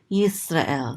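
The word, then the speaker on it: ישראל: So this is going to be yis. And this is a resh with a kamat, so this is ra. And this is an aleph with a tzere, this is and this lamed closes out the syllable to say el, Yisrael.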